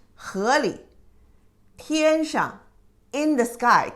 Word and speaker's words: 河里: However, if you say 河 is river, inside of the river, 河里, you don't pronounce it 河里. You pronounce it very light touch, 河里.